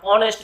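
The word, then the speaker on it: honest: যেমন অনেস্ট, এইচ ও এন ই এস টি, এটাকে আমরা হনেস্ট বলি না অনেস্ট বলি?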